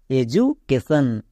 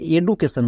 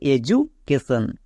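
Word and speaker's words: education: এজু সি এ টি আই ও এন কেশন এডুকেশন একে অনেকে ভুল করে এডুকেশন বলে বাট এটা সম্পূর্ণ ভুল এর উচ্চারণ কি দাঁড়াবে এডুকেশন এডুকেশন কেন কারণ ডি এর দুপাশে দুটো ভাওয়েল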